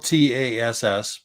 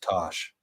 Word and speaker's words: Tass: So It's spelled TASS, but she explained it today to me in a way that I will never forget. So her full name is Natasha, Natassja. Oh. So she uses the TASS from Natasha, but it's pronounced Tosh. But she also said people call her Tass all the time and she doesn't get offended.